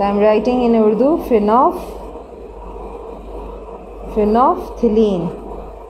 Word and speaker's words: phenolphthalein: फिनोफ्थिलीन, सो आई am writing in Urdu, फिनोफ्थिलीन, इस तरीके से आपने इसको प्रोनाउंस करना है, फिनोफ्थिलीन।